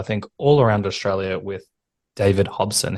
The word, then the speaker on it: David Hobson: You also have another collaboration and you've got shows on sale, I think, all around Australia with David Hobson.